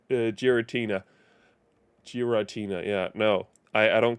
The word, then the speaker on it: Giratina: Brilliant diamonds to get uh where is it gutina gutina I always called the gutina Pokemon